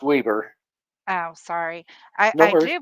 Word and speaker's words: Weber: the Weber County Sheriff's um website yep it's pronounced Weber oh sorry I I do believe when I